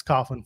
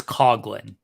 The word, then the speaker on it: Coughlin: Alex Coughlin, not Coughlin.